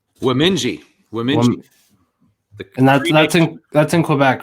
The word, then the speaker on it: Wemindji: that and uh you can go ahead and pronounce the name because i don't want to do it wrong womenji women that's in quebec right yeah the cree